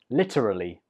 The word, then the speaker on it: literally: 13 is a word I use a lot, and it is literally. Literally. This word has 4 syllables. Literally. Literally. And the stress is on the 1st syllable.